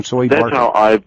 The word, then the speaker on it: Soebarkah: So it's soy. The E is strong, Soebarkah.